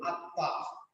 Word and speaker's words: আত্মা: কিন্তু বাংলায় যখন পড়বো তখন এটার উচ্চারণ হচ্ছে আ ত নিচে হরস চিহ্ন আরেকটা ত আকা আর চন্দ্রবিন্দু। আত্মা।